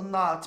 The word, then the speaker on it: not: Ah, aqui eu quis trazer o not, porque muita gente acha que esse O tem som de O, mas ele é um A com O.